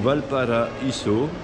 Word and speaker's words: Valparaíso: Ah, j'ai bien prononcé, hein, parce qu'en espagnol, on prononce toutes les lettres. Il n'y a qu'en français que AI, ça fait E. Donc Valparaíso, nous partons à 17h